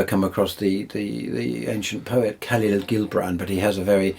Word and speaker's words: Khalil Gibran: I don't know if you've ever come across the ancient poet Khalil Gibran, but he has a very... Oh, yes. Gibran. It's pronounced Khalil Gibran.